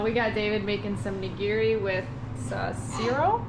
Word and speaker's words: nigiri: We got David making some nigiri with siro? Nigiri, right? That's how you say it? Yeah. Nigiri.